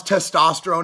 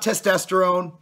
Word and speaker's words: testosterone: first of all Lee learn how to pronounce testosterone it's not testesterone um if Lind is